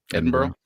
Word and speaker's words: Edinburgh: What do you think this the proper pronunciation? Edinburgh.